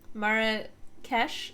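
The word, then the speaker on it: Marrakesh: Mara Kesh is the pronunciation.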